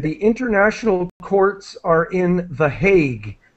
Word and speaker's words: The Hague: international courts are in The Hague. That's how we pronounce it in English. The Hague.